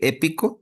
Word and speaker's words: épico: Dice en la segunda y las la tercera porque épico es correcto, lleva acento en la e.